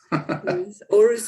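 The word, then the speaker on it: Aarhus: environmental studies as well in the university and of our house in denmark did i pronounce that correctly yes yes yes aureus university i studied there for just for some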